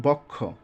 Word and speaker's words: বক্ষ: গেছে আর বক্ষ হ্যাঁ এই বর্ণটা ভেঙে উচ্চারণ করতে হবে বক্ষ অর্থাৎ এ বক্ষটা